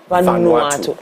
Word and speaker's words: Vanuatu: How is the word pronounced? Is it Vanuatu or Vanuatu. Vanuatu.